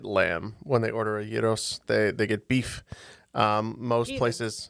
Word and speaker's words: gyro: I believe it's pronounced gyro, right? Yeah, gyro.